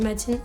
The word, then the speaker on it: Matina: En fait, ça s'écrit Matina, mais on dit Matine, on ne prononce pas le A à la fin.